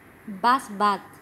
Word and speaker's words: Busbud: realidad es una estafa se llama basbug si se escribe bus wood así como ven ahí